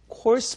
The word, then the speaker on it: course: 코스, 영어로 알 발음만 잘해주세요. course meal.